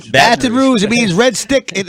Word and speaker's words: Baton Rouge: into that uh how do you say It Baton Rouge Baton Rouge it means red stick in Indian language okay